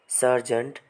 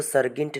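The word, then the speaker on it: sergeant: ये दिख रहा है सर्जेंट तो फ्रेंड्स इसको सर्गेंट नहीं पढ़ा जाएगा इसको सर्जेंट पढ़ा जाएगा एस एस ई आर जी ई ए एन टी सर्जेंट पढ़ा जाएगा।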